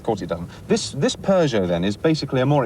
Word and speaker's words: Peugeot: else whiskey's pronunciations right is it Pujo or pers oh I'd say Peugeot some people say Pujo but that's wrong it's Persia I think